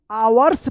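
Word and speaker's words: hours: फ्यू अब बताइए यहां पे क्या पढ़ेंगे इसको आवर्स पढ़ेंगे यहां पे एच साइलेंट रहेगा एच ओ यू आर एस आवर्स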